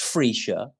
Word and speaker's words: Freccia: It's pronounced Freccia, Mm-hmm.